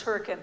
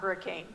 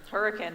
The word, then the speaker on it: Hurricane: No, that is Hurricane, not Hurricane. Say it right. Hurricane.